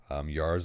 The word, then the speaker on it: Yara: This I is can't my- pronounce this- her name. No, it's Yara.